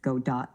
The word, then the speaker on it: Godot: The game engine, spelled Godot, is pronounced Godot, like Godot. It's a reference to the character in Samuel Beckett's play Waiting for Godot, where the character's name is typically pronounced the same way.